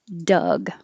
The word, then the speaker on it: Doug: But Doug, Doug. I'm making the vowel a little longer, Doug.